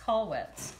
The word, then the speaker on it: Kollwitz: amazing survivors and then Kathy Katie Katie it's pronounced Kollwitz this is a self-portrait she was such a